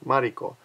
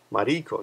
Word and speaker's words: Mariko: Or so a lot of girls' names have 2 or 3 syllables, and you want to go up a little bit higher on the first syllable. I believe, like Mariko, Mariko, no, like Mariko, Masako, Yukiko, Yukiko, no.